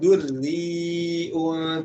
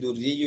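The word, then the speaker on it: دري: Misalkan di ayat az-zujajatu ka'annaha kaukabun durriun tuqad ya. Bukan lagi durriyu yuqad tapi durriun tuqadu. Durriun tuqadu.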